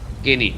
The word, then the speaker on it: Guinea: It's not Guinea. I know it's spelled that way, but it's skinny. Guinea.